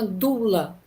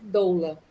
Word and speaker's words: doula: chama mulher que serve na verdade a fonética né a pronúncia se chama dula né aí o brasileiro ele vai ao peré da letra e utiliza o termo realmente doula mas aqui no Brasil todo mundo conhece como doula então é toda pessoa antigamente